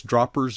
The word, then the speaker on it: Droppers: But Wouter, I guess Droppers is spelled the way it's spelled, or pronounced the way it's spelled.